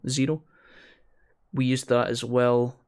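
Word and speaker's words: Xero: It's spelt Zero with an X. X-E-R-O. Zero.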